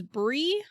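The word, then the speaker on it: Brigh: So Bry is spelled B-R-I-G-H, and as much as I can tell, it's pronounced Bry, but I have also heard it as Bree.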